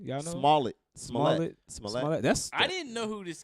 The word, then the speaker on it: Smollett: How you pronounce his last name? Y'all know? Smollett.